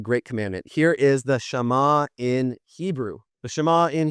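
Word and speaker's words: Shema: So, we get when we get to the great commandment, here is the shama in Hebrew. The shama in Hebrew, it's proper pronunciation, Shama Israel.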